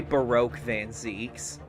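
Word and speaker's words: Barok van Zieks: him all right we're gonna say baroque van zeeks we're going to say that because i feel like that's the correct way to say it mr nara hudo the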